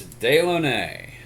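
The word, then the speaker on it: Dilone: got to tell you whoever came up with the pronunciation of that name is a crack smoker but it's day lennae so let's do this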